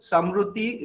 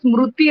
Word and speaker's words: Smruti: Samruti? Dr. Samruti? Yes, sir, it's Dr. Smruti. The pronunciation is from Odisha, like Smruti, it's memory.